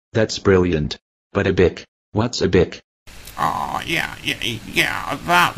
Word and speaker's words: ABIK: affect you at all, because you're gonna be ABIC. That's brilliant. But a bic. What's a bic? Yeah, that would be pronounced, ABIC, and it actually stands for something.